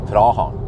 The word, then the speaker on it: Praha: use the the the local name yeah like prahan you know not Prague it's prahan um but